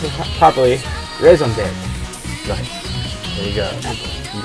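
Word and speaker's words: raison d'être: new Lola single, and I remember how to pronounce it properly. Raison d'etre.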